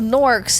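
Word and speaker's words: Gnorc: ont the soft G it spell with a G right it's g n o r c CS it sounds like a n but it's you know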